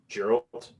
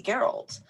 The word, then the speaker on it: Geralt: not for sorry who geralt did I say geralt geralt geralt I don't know it's not like Gerald I could remember if he had some kind of weird pronunciation to the to the G or what but uh